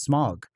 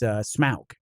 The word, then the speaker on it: Smaug: She goes, no, Smaug. And I said, oh, is it not pronounced Smog? I was like, as a kid growing up, I thought it was Smog. And she goes, no, it's Smaug.